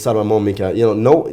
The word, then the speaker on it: Salman Momika: And this also goes to show what we talked about with Salman Momika.